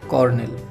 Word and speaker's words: colonel: তো আমরা যদি এখন এই দুটিকে সংযুক্ত করি তাহলে হবে COLONEL, আর তার সঠিক উচ্চারণ হচ্ছে কর্নেল।